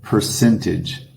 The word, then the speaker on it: percentage: Porcentagem, percentage. Nota que em inglês a gente dá aquela força tônica na sílaba sin. Percentage.